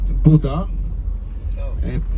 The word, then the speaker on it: Buda: in the past area the opposite side is Buddha which is not connected to to an oriental religion B UD da it's spelled most Jews lived in